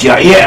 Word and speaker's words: Jair: At all events, it is pronounced as Yair, and we find this person mentioned in the Bible.